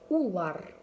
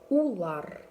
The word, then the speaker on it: улар: Мы произносится так. Бед. Бед. Вы. Хев. Хев. И они. Улар. Улар.